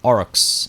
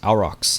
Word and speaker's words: oryx: want to hunt some Oryx our rocks however it's pronounced apparently there's multiple apparently both pronunciations are correct so there's that alright